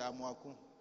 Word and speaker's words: Amoako: Mon nom là c'est Amouakou. Mais pour français, il faut mettre N à la fin pour prononcer Amouakou.